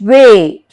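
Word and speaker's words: weigh: sound, we are not, yes, we are not pronouncing the G. Night, N-I-G-H-T, night. Thought, T-H-O-U-G-H-T, thought. And way, W-E-I-G-H, way.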